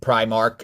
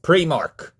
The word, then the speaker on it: Primark: It's not pronounced Primark, it's pronounced Primark.